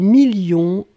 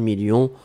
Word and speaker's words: millions: à la fin 2 millions on ne prononce pas le s mais il est là ensuite signature mais ici